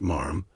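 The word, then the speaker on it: ma'am: Not your majesty, not mom, pronounced marm in the proper aristocratic way.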